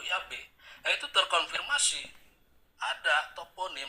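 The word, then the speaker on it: Yahweh: jadi ya yhwh itu sebelumnya diucapkan fonetik atau bunyinya yave atau Yabe Nah itu terkonfirmasi ada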